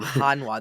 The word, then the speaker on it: Hanwha: Hanwha.